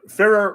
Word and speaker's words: Ferrer: Ferrer rhymes with mirror, isn't that right?